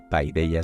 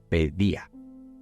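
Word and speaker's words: παιδεία: eje de la paellace que estoy pronunciando mal el griego me toca tomar algunas clases de griego creo que en vez de pay de ella se dice pedía que tiene que ver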